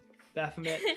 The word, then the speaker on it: Baphomet: vomit i can't say his name right uh baphomet so what is this let's go with that baphomet uh demogorgon is the largest baphomet is the correct way of pronouncing that yes yay i did it baphomet